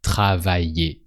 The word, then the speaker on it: travailler: So actually with er verbs, like travailler, it sounds the same. Just travailler. And that's it.